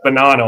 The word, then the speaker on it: Bonanno: Mafia, Lucchese family, the Benino family. That's Bonanno, I guess is how it's pronounced.